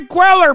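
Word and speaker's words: Cuellar: man chat's so weird Henry queller brother that's how you say it God damn it he's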